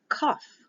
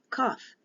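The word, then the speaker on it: qoph: of Life verse 145 is cough cough q-o-p-h is how it's supposed to be written or a q o f either one is correct because the pH is an F sometimes they'll put a k so the King James version put k-o-p-h it's supposed to be a q the 19th letter is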